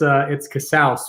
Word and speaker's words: Casaus: Is that the way to pronounce it? It's Casaus, but yeah, close, man.